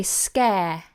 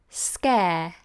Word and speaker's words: scare: a sounded are right but in this case we have a letter following R that is a vowel but we're not pronouncing the letter R and that's because the final e here is not pronounced we say scare scare and the final II does not represent a sound in itself so that's why that bar becomes silent scare scare let me